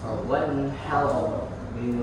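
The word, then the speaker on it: وَانْحَرْ: Nah, di sini itu ternyata harus dibaca tebal semua. Kautsar, wanhar, abtar.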